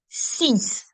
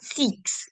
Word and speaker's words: six: Notice carefully, guys. If you remember the dipsticks rule, DPSTX, whenever it is at the end of a word as consonants, we don't pronounce them. And that's the same thing that you're seeing here. It's not prix, it's not six, it's not folks, it's not dukes. We don't pronounce them altogether.